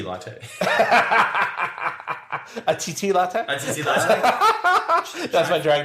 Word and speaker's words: T.T. Latte: A TT latte? That's my drag name also. TT latte? Oh my God, yes! But pronounce it's just the letter T.